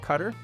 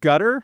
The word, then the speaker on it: Qatar: we say sometimes and I've heard your country pronounced in so many different ways. I've heard gutter as if like a rain gutter on a house or even guitar.